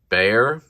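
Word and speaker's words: Bexar: i recently got this bear it's pronounced bear like the animal by the way it's spelled with an x b-e-x-a-r but it's pronounced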